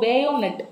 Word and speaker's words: bayonet: ஸோ பேயோனெட் ஓகேவா? ஸோ பேயோனெட்னா first என்ன அப்படிங்கக்கூடியதை புரிஞ்சுக்கோங்க. ஸோ சில சினிமாலாம் நீங்கள் பார்த்துருந்தீங்கன்னா புரியும். ஸோ ஜிடி படிக்கிறீங்க, கண்டிப்பாக பேயோனெட்னா என்னன்னு தெரியும். பேயோனெட் ஆர் பயோனெட் எப்படினாலும் ப்ரொனவுன்ஸ் பண்ணிக்கோங்க.